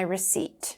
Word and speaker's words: receipt: Or you might say, "I'd like to return this, but I've lost my receipt."